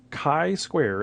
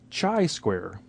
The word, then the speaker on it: chi-square: test now first and foremost make sure you pronounce it correctly it is chi-square as an kite not Chi as in cheetah not a chi-square or chai as in chai tea it's not chai square it is Chi square so I've been in